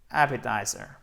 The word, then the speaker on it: appetizer: pour le coup, mais il est prononcé comme un T normalement. Alors honnêtement, je n'en connais pas la raison. Je soupçonne le fait que si on le prononce comme un D, ça déforme tellement la prononciation du mot que du coup, ça ne convenait pas.